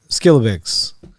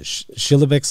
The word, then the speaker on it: Schillebeeckx: so it actually wasn't skilabix and i i think i'm pronouncing them incorrectly that's the way i've always heard it but you you said uh schilobics i guess was i'll do my best to say that but i can't guarantee i'll maintain that uh standard for pronunciation the rest of the